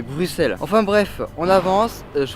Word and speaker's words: Bruxelles: vous l'avez compris bruxelles d'ailleurs enfin bien prononcé ce mot que je peux vous dire que j'en ai mis du temps avant de comprendre qu'on disait pas bruxelles mais bruxelles enfin bref on avance